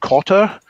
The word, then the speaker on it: Kotter: Perhaps some of the listeners have heard of the writer John Cotter. His surname is spelt Kotter.